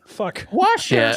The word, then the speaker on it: Worcester: Worster.